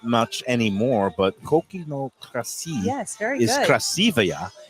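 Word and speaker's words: κρασί: But Crassi.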